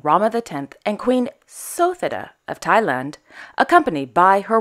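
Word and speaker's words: Suthida: of Her Majesty's name for a long time I've been calling her sethada but it's actually sotheda I think that's right if it's not Krishna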